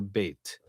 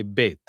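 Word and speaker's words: ב: realizations of the letter Beit. And what I mean by different realizations, we mean that sometimes it's pronounced or realized as B, as in boy, and sometimes it's realized as V, as in very.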